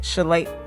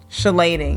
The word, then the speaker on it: chelating: need to add a chelating chalet how do you say it again chelating yeah that's how you